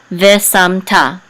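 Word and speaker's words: וְשַׂמְתָּ: Ve sam ta. And the accent is on ta.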